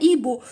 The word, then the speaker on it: hibou: هاد الكلمات يتعلم كيفاش نقولوا بومه نقولوا لها ايبو، وتعلمنا الاش في البدايه ما يتنطقش، نقولوا ديريكت الحرف اللي موراه اي. ماركيتو قدرنا الاش بصح ما نطقوهاش نقولوا ايبو.